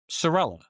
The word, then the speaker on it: Cerella: And I I I'm Lieutenant Colonel Serella. That's how I pronounce my name, the Americanized version of it for 40 2 44 years of my life.